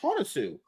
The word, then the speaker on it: Hounsou: It's pronounced Hounsou.